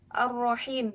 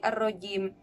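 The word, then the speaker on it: Ar-Rahim: keluarkan yang kita ucapkan salah ar-rohim terus kita lafalkan menjadi arojin berarti menjadi terkutuk Kalau diartikan jadi begini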